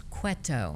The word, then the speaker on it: Cueto: princess to gods princess barbara cueto am i pronouncing that correctly actually it's quetto quito but you're good we usually get cuerpo